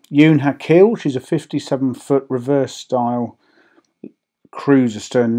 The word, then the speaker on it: Ewn Ha Cul: I've taken advice on that, as well as the pronunciation. So if you disagree, then let me know. Ewn Ha Cul, she's a 57-foot reverse-style cruiser-stern narrowboat built in 2009 by Cheshire Narrowboat.